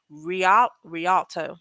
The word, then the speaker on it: Rialto: house in uh RI R RI Rialto I think that's how you say it and I'm about to